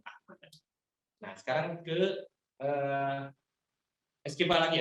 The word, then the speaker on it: Armada: Tulisannya Armada tapi dibacanya Ahmada.